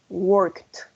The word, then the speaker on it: worked: But here, what is red, we're going to say walked, watched, worked. Yes, that's like a T. Como una T.